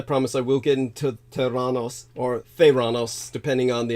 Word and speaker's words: Theranos: Now, did you hear me talk about Theranos, the correct Greek pronunciation, or Theranos in the past?